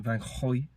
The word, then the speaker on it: van Gogh: But it's like you have to say it like you've got a phlegm. But it's still like an O.